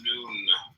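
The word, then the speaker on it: Nun: deaths comment on none none pronounced noon transcribed as and the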